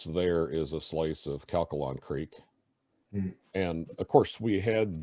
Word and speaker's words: Calcalong: very extensively studied uh how do you say it catholic calcalong c-a-l-c-a-l-o-n-g uh sort of like calculus but not quite all the way there so calkalon creek was studied very extensively